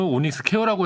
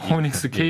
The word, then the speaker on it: 오닉스케이: 것으로 파악이 됩니다 아 제가 방금 발음을 오닉스 케어라고 했었는데 케어가 아니고 오닉스케이 있군요 예 예 방금 말씀하신